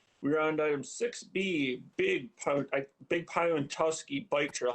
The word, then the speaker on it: Pawtuski: We're on item 6B, Big Pawtuski Bike Trail. How do you say that? Pawtuski. Correct.